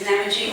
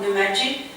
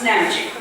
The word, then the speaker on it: Namadgi: And by the way, the pronunciation is Namadgi, not Namadgi. Namadgi is an Aboriginal word, and the Europeans have changed the emphasis on the syllables and they call it Namadgi, so it's Namadgi.